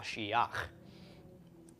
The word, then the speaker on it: Mashiach: So we've got ma, shi, instead of ma, shi, cha, this is ma, shiach, which is the anointed one, or an anointed one.